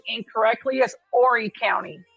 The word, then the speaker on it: Horry: you're saying incorrectly is Horry County. Horry County. Yeah. Well, that's been my constant kryptonite, saying names correctly. It's Horry County. The H is silent, and her name is Mica Francis.